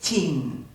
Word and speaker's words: Qin: Es también el que le da el nombre a China, porque ese Qin se pronuncia efectivamente Qin, y de ahí viene el origen del nombre.